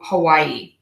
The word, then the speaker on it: Hawaii: This word is pronounced, the state is actually pronounced differently than I'm going to pronounce it by people who live in Hawaii and also people who are native to Hawaii.